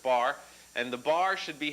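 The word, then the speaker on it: barre: of the bar okay the bar which is spelled kind of funny like that but it's pronounced just bar and the bar should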